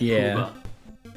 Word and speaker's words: Puba: Grand poba as tekka although I think they spell it like Puba like the Grand Puba like a like a tuba like a cross between a tuba and a puma sounds like a really